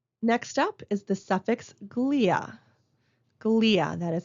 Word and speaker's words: glia: Next up is the suffix glia. Glia, that is how that's pronounced.